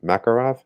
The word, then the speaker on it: Makarov: Here we have the Makarov.